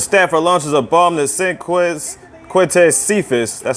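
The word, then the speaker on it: Quintez Cephus: But Stafford launches a bomb to Quintez Cephas. That's how you pronounce the name.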